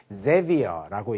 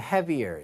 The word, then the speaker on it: Xavier: 자, 그래서 곤잘레스라는 사람이 자, 요거는 Xavier라고 읽기도 하고 자, 그다음에 저거는 스페니쉬로 읽으면 heavier 이렇게 읽기도 하더라고요.